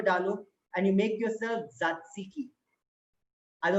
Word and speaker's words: tzatziki: and you make yourself tzatziki. I know it's a tongue twister Greek name. If you're sitting at home, repeat after me. Tzatziki. The first T is silent.